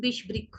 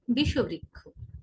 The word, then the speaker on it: বিষবৃক্ষ: তারপর রয়েছে বিষবৃক্ষ, এটা কিন্তু বিষবৃক্ষ নয়, এর সঠিক উচ্চারণ হবে বিষবৃক্ষ, বিষবৃক্ষ, বিষবৃক্ষ।